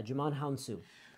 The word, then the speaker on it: Djimon Hounsou: you realizes this guy yeah you're gonna just pronounce his name huh his name is Djimon Honsou yeah Djimon Hounsou so he has crossed over he was in